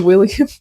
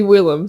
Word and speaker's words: Willem: I pronounced his name as William for some reason but it's actually Willem.